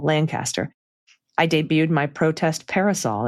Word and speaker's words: Lancaster: of Lancaster, pronounced with Langcaster. Not too much G and the emphasis on the first syllable, Lancaster.